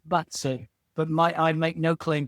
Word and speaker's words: BaZi: I had never heard of the term Bazi. Is that the correct pronunciation, Bazi? No, it's very wrong, but it's the way I do it. we, we should probably say Batsu, but I make no claim to pronounce Chinese well.